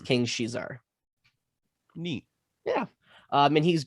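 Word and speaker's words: King Caesar: film called uh king shizar um some might pronounce it king's cesar because that's kind of how it's spelled or king kaiser depending on how you pronounce it but um it's pronounced king she's our mainly because in japanese enunciation there's no enunciation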